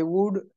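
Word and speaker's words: would: उसके बाद है आई वुड like to thank. इसको OULD, OULD इसको वुड पढ़ेंगे, क्या पढ़ेंगे?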